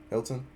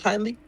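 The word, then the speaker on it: Hindley: His uh brother I'm pretty sure Hilton. I'm sorry sir. His name's Hinley.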